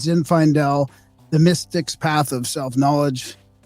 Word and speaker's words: Zinfaendel: me just say what the title is It's Zin Fel the mystics path of self-knowledge and uh yeah